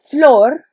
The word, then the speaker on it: flor: we've got floor and if you want to think of it as floor like an actual floor that would actually help in pronunciation flor which stands for a